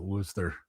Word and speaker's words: Worcester: Yeah, that's how they pronounce it, Worcester.